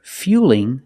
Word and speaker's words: fueling: So it's a light L now. It's a little different. Fueling. Not fueling, but fueling. The light L is straighter.